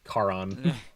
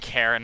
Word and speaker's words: Charon: It's Charon. Karen, But- Karon. Karen is really funny. It's definitely pronounced that thing- Charon. that need- that Charon thing and needs not like a Karen, but sure.